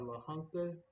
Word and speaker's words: La Junta: 19 miles northeast of La Junta, or La Junta. I guess that would be how it's said in Spanish, because J is usually H.